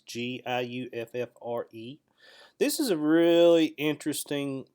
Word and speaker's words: Giuffre: All right, so on the earlier video, I missed a point with this Victoria Roberts Giuffre, or however you spell her last or pronounce her last name. It's Giuffre.